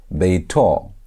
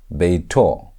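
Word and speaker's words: בֵּיתוֹ: If you want to say his house, you're going to say beito, beito, and that means his house. So that holy moal is how you say his in Hebrew. That holy moal at the end shows you're talking about his house.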